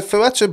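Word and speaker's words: Fertitta: It was the Ferretto brothers.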